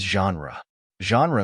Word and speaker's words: genre: English it is spelled as Gnar the correct pronunciation of this word is genre means a category of artistic composition as in